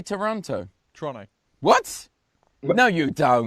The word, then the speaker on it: Toronto: Yeah, well, it's the same with like it's same when we say Toronto, like that's how it's supposed to be said, but because they lose half the syllables and just call it trow, like people get mad when I pronounce it properly. It's Toronto, but they're like, no, it's trow, and I'm like, okay, well that's T-O.